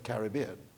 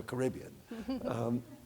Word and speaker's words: Caribbean: Because of course, in the Caribbean, it's the Caribbean. It's not the Caribbean. So just a little pronunciation note.